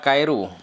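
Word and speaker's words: 帰る: Ya, dibaca kaeru.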